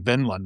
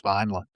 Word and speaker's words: Vineland: taken a Thomas Pynchon novel called Vineland, or Vinland, as I like to pronounce it, but I believe it's Vineland, 1990, which but he's